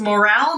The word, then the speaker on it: morale: down.Play up to the boss っていうのは、上司に媚びを売るってことですね。まあ、上司に自分のいいところをガンガン見せていくっていう感じの直訳ですね。And brings everyone's morale down.